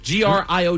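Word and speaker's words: griot: G R I O T. Grio. AB. The T is silent.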